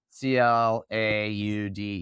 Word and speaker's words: Claude: I prefer is Anthropic's Claude. Okay. Claude. My French friend said I was saying it wrong, so hopefully I'm saying it right now.